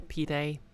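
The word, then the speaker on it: pide: a turkish flatbread oh nice is it actually pronounced pied or is it like pi day or p day oh it's pronounced p day everyone loves a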